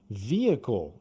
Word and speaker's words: vehicle: Vehicle, que é veículo, tem em inglês H no meio que não tem som, vehicle.